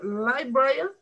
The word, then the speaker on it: librarian: Me tienen que la clave es pronunciar esas dos R's.